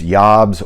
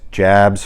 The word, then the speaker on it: Jabs: at this uh chibson Matias yobs or Matias Jabs for us American folks that don't pronounce foreign names correctly uh this is a